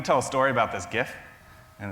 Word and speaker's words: GIF: So I'm going to tell a story about this GIF, and it's GIF with a hard G.